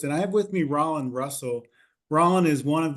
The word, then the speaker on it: Rollin: introduce yourself well uh my name is Rand Russell uh r o l l i n Rand rhymes with pollen uh I've been living